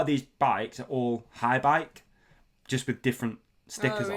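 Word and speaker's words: Haibike: That's how you say it, isn't it? HAI, High Bike.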